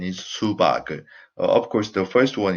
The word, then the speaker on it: 수박을: So the pronunciation is 수박을.